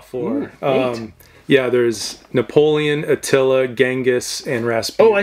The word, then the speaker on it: Attila: atla I think it is how do you pronounce that one it's Attila Attila oh shoot oh as you can see